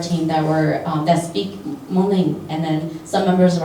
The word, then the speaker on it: Hmong: capital M, sorry, because that includes Hmong with the aspirated H when you say Hmong, right? And then also the capital M, which is Hmong Ling, because when you say Hmong Ling, you don't have an aspirated H.